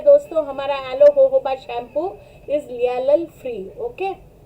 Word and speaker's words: jojoba: forever aloe जोजोबा shampoo हो सी, यहाँ पे अगर मैं प्रोनाउंस करूँ एलो जोजोबा शैम्पू, लेकिन हम बेसिकली इसको प्रोनाउंस करते हैं yellow होहोबा shampoo is a perfect for